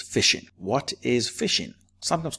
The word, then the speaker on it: phishing: the first question is how do you pronounce this word well that is fishing what is fishing sometimes